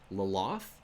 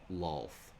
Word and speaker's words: Lolth: There used to be people that would pronounce double L's Laloth. I have heard that. I think they've mostly changed it to just being a single L sound, Lolth.